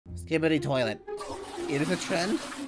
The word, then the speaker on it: Skibidi: Skibidi, that's how it's pronounced.